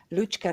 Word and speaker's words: Lučka: Well, my name is correctly pronounced Lučka, Kajfež, Bogataj. Lučka is like Lucy in English.